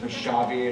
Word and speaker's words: Rysavy: I've been saying his name wrong like ever since he was a student here. So it's Rysavy, and I just learned that a couple weeks ago.